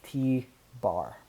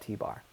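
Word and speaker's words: t̄: i pronounce it as t bar so if you ever see a little line on top in mathematics lingo we call that t bar so it is the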